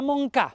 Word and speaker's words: Montcada: Tot i que el nom en valencià és amb T, la T no sona, ja que la T seguida de consonant mai es pronuncia. Montblanc, Montferrer, Montserrat, Montfort... Encara que s'escriu Montcada, la D entre vocals també cau en valencià. Magrà, Magrà, Montcà.